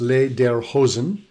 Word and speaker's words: lederhosen: are lederhosen and dirndl lederhosen pronounced les der hozen means leather pants and